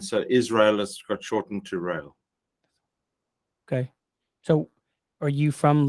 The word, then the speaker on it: Rael: it because it's not most americans add a second syllable to my name but no it's one like rail railway line rail okay right yeah rail